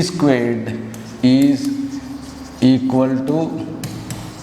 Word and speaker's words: squared: Similarly, if you go to this, 3 squared, not 3 square. Careful, let's do this. Is 3 square equal to 2 cube? Is 3 squared is equal to 2 cubed?